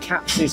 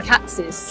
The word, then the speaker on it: Katz's: How do you pronounce it? Katz's. Because it's K-A-T-Z, so is it Katz's or And there's Katz? an apostrophe S. Ah, okay. So Katz's.